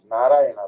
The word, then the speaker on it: Narayana: Narayana, Lord Narayana. Narayana, actually the name has 4 syllables, as everyone is aware.